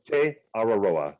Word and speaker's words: Te Araroa: And for those people who need a spelling check, it is T-E, next word, A-R-A-R-O-A, and it's pronounced Te Araroa Trail.